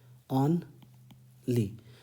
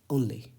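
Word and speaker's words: only: और ध्यान रहे इसका उच्चारण वनली नहीं होता है, ओनली होता है, बहुत सिंपल है, ऑन ली, लेकिन ऑन नहीं पढ़ते, ओन पढ़ते हैं, ओनली, ओनली, ऐसे ये स्टाइल होती है।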